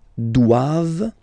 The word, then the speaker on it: doivent: And then the last one, ils doivent. So same thing, classic ending for the plural form, E-N-T here. Okay, but then you don't pronounce it.